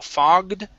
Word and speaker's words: fogged: says window fogged okay remember this is going to be ah okay pronounce that g because this is another one you've had this one twice yeah make sure to pronounce that g here okay fogged up the